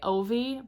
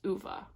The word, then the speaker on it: Ove: I want to say Ovi, but that's not how it's pronounced. I'm pretty sure it's pronounced Uva. That's what I'm going with.